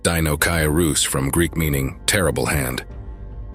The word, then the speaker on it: Deinocheirus: dooc Caris pronounced Dino karus from Greek meaning terrible hand is a genus